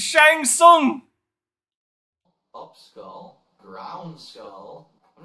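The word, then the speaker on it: Shang Tsung: it's literally right there the tear is silent it's Shang song up skull ground skull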